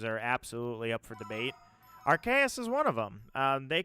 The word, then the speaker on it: Arceus: Latin pronounces it Deus, but after a while it started being accepted as Deus. Either way, it's Arceus.